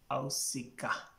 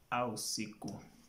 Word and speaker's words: Ausiku: Then Ausiku, you find some people saying Ausiku or Ausika. The correct pronunciation is Ausiku.